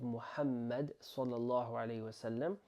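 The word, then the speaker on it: Muhammad: So we're saying again Muhammed. Now when it comes to saying the name of Muhammed, we say moo. Okay? Not Mo.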